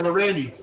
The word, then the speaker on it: Lorendi: So we have Lou, is it Lorendi? Is that how you pronounce it? Lorendi? Yeah, Lorendi. So he Lorendi.